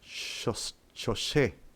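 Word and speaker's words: חושך: Y en el libro de Génesis, luz se pronuncia or y tiniebla se pronuncia shosé.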